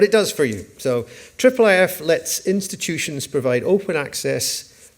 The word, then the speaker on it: IIIF: uh a little bit about our project so triple which is pronounced what's Triple it's I I I if